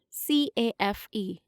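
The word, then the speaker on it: café: accent on the correct letter in the word c-a-f-e the pronunciation is cafe answer in the comment section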